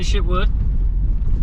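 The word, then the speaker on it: Chitwood: But if you stayed in Shitwood Hollow, I'll say it's pretty in Shitwood, but man, it's a hell of a name. I guess that's how you pronounce it.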